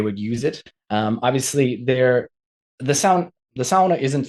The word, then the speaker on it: sauna: I tried to adopt saying sauna just so people don't like look at me quizzically when I say it, but it's not the right way to say it. It's the only Finnish word in the English language. You have to say it right.